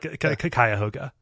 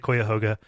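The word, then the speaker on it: Cuyahoga: this is right yeah it's a kayoga he he pronounces it Koga which you know if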